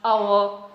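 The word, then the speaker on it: hour: Honor, honest, our. In all these words, H, the letter H is silent.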